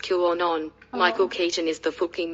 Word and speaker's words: QAnon: And it's pronounced QAnon.